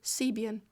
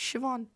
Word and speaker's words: Siobhan: When I first read her name, I thought it was Sebian. Siobhan. But it's Siobhan.